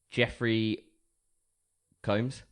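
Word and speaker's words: Jeffrey Combs: two one is obviously Jeffrey comes yeah is how he pronounce his name yes terrible the names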